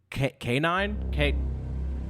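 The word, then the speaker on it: Kniine: This first song is called Madman by K9. K9. This is going to be a ongoing issue throughout the video. If you go to this person's YouTube channel, okay, it's spelled K-N-I-I-N-E. That's K9, right?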